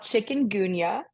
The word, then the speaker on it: chikungunya: It's called Chikun Gunya. Yes. It is not spelled like chicken the animal.